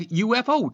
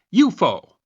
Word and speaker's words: UFO: headline Mystery Circles Revive UFO Talk. Note that while in the US we usually say the three letters UFO, meaning unidentified flying object, in the UK the acronym is usually pronounced "you-fo".